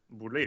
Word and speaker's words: Boulé: Ah, yes, Marc Boulé. Boule. Okay. Is that how it's Marc pronounced, Boule. Marc? Mark Boulé. Boule is also with us in the chat. Boulé.